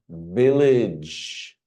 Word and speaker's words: village: J, village.